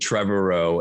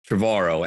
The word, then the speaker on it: Trevorrow: hawaii uh i think someone said trevor rowe and you said no it's like tomorrow travaro and i i always